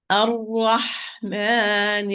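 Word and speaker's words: الرحمن: So circling the lips when pronouncing it. As in, I'm going to recite it properly. It's Ar-Rahman Ar-Rahim. Ar-Ra, lips are not involved.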